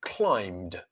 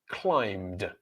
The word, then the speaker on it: climbed: The next word is climbed, climbed, climbed. So which letter is silent there? Well, it is the B.